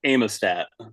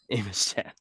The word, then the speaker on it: Amistad: As an AVETT show, I would assume it's pronounced Amistad. Amistad. Yeah, the A's got to be long.